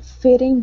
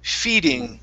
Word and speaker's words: feeding: bell try that a fitting belt okay now instead of fitting it's fee okay long east town feeding a feeding mill feeding